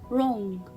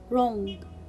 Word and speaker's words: wrong: word without letter w wrong wrong rest wrist i will not pronounce letter w because it comes before letter r so here i will